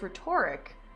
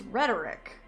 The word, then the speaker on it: rhetoric: retoric we don't care rhetoric I keep pronouncing it wrong it's one of those words that you read and it's like I keep reading it as rhetoric but it's rhetoric I was watching the vods